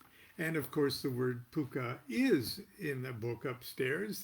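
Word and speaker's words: Pocuh: no yes finally really pronounced puka like harvey the invisible six-foot rabbit in the movie yes so there it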